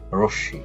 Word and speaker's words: রশ্মি: রশ্মি, এখানেও মোটা উচ্চারণ হয়নি, এখানে চন্দ্রবিন্দু আকারে রয়ে গেছে।